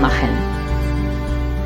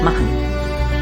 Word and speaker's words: machen: Now, here the N should not be pronounced so it should not be enunciated so strongly. Rather, we should drop off the A and say machen. It's almost like mach and N. Machen.